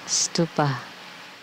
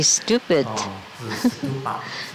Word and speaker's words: stupa: Stupa. And this mudra is also the mudra for Ushina Vijaya, the stupa. You can't mispronounce it to be stupid.